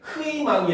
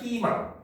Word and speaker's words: 희망: 자, 그래서 우리 초성에 히읗이 있는 희망 같은 경우도 역시 흐이망이 아니라 희망 이로 발음하는 거죠.